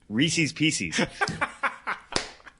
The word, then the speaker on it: Reese's Pieces: Yeah, so as everybody knows, those are affectionately known, and I'm only going to say this once, Reese's Pieces. They are Reese's Pieces.